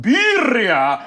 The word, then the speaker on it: Birria: I just mispronounced Birria to you like 4 times.